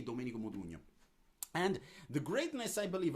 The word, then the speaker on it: Modugno: So these two artists are Domenico Modugno, whose name is not suggesting anything outside of Italy, because actually it's very hard to pronounce the ñ sound in Modugno.